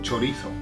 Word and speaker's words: chorizo: This word, most countries know chorizo, okay, but the pronunciation, oh man, it's so bad. Now I'm saying chorizo because I'm making the Z into a th, okay?